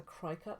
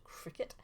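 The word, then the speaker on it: Cricut: is using a cricet I also used to call this a cry cut for ages but it's actually pronounced Cricket crickets are essentially a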